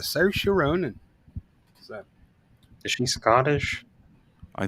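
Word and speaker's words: Saoirse: She's like, "It's Cersa. Everybody pronounces it wrong, but it's Cersa." Cersa Ronin.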